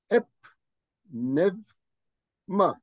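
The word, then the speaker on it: ⲡⲛⲉⲩⲙⲁ: P, then the word in yellow is ep, nev, ma. Nev ma. I said ep because the letter P has a jenkem above it.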